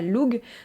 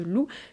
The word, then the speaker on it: Lugh: loups donc du dieu loup qui s'écrit effectivement l u GH mais ça ne se prononce pas loug ça se prononce bien loup d'ailleurs à ce sujet